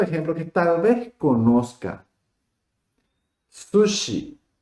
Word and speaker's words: sushi: Sushi. Son dos sílabas. Su, shi. Sushi.